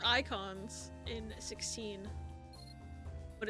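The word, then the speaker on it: Eikons: I know they're called Icons in 16. But it's spelled E-I-K-O-N.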